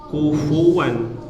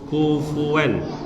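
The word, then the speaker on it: كُفُوًا: Nah, huruf fa ya, kufuwan itu bacanya jangan kufuwan, jangan bibir ketemu bibir, kufuwan salah. Tapi bibir bawah bagian dalam bertemu ujung gigi seri atas, kufuwan, dan ada udara yang keluar, kufuwan ahad ya.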